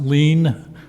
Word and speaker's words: Leon: you miss dorner leon 767 south hillside not sure if i got that right good evening i'd like to apologize for my somewhat scrawling uh handwriting my last name is is pronounced lean and the address is